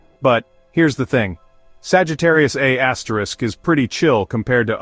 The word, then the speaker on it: Sagittarius A*: At its center, about 26,000 light-years from Earth, lies Sagittarius A*, pronounced A-star.